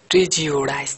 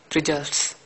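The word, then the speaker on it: prejudice: তারপর দেখো 3 নম্বরটা, মিস্টার মিলার্স প্রিজিওডিস, এখানে এটা সঠিক উচ্চারণ কীরকম জানো? প্রিজিওডাইস, প্রিজিওডাইস, কিন্তু এটা আমরা পড়ি প্রিজার্স, এটা হচ্ছে সঠিক উচ্চারণ প্রিজিওডাইস, ঠিক আছে?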